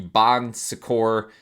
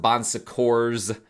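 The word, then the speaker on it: Bon Secours: Um, some people pronounce it bonsors with an s at the end because it does have actually an s at the end, but it's a French word. I I think the s is silent.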